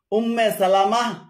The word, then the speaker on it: উম্মে সালামা: উচ্চারণ হবে 39 নম্বর অনেকে ভুল করে রাসূুল্লাহ সাল্লাল্লাহু আলাইহ সাল্লামের সহধর্মণীর নাম এক সহধর্মণীর নাম উম্মে সালমা বলে থাকেন এটা শুদ্ধ নয় শুদ্ধ হল উম্মে সালামা বা উম্মু সালামা উম্মে সালামা বা উম্মু সালামা 40